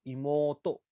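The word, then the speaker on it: 妹: इमोतो, इसका pronunciation ऊ से होगा, इमोतो।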